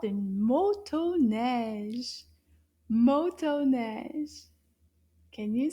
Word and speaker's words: motoneige: I think there's two O sounds.